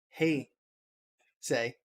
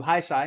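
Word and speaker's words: Heisei: basically destroying us and telling us how to say, hey, say, as opposed to hi, say.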